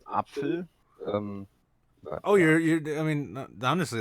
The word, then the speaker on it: Apfel: Well, it's pronounced Apfel.